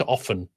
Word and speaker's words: often: And that's, well, it's often. It's a silent T, but I said, because